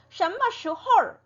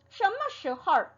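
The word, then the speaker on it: 什么时候: 네, 얼이 붙어 있지 않지만 얼을 얼화를 시켜서 발음을 해줍니다. 그래서 什么时候什么时候什么时候 이렇게 말하는 거를 들으실 수 있을 거예요.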